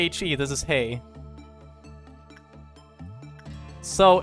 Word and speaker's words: HE: with the teddy bear it's not h e but pronounced like hey by the way like hey so this is that is not he this is hay so it's uh zayn